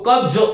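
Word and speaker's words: क़ब्ज़: हमारा ज है और ये जहां पर नुक्ता लग जाता है वो ज होता है, कब्ज, तो कब्ज इस प्रकार से इसका उच्चारण करना चाहिए, कमर कमर नहीं बोलना है,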